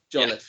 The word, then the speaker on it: Jolliffe: Did I get the pronunciation right this time? Yeah, that's good for me. Or Jolliffe, close, right? Close Jolliffe. enough. Yeah. Jolliffe, yeah. Jolliffe, there we go.